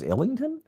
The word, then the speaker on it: Islington: I think the S is silent. Islington. What do you think it is? Illington.